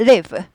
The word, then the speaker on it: live: leave, 떠나다. leave죠. 네. 살다는 live, 짧아요. live. 얘는 길어요.